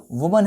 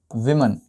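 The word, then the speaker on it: women: accident यह क्या है वुमन है क्या ममन है इसको प्रोनाउंस करेंगे विमन क्या कहेंगे विमन टू ममन डाइड इन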